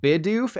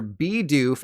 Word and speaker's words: Bidoof: to inform you that it's not Bidoof and babero but rather be doof and bibro yeah the bee